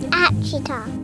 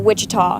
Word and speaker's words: Ouachita: Ouachita. Ouachita. Is it pronounced Ouachita? Searching for Ouachita Baptist University. Back in Texas everybody pronounces it Wichita but really it's Ouachita.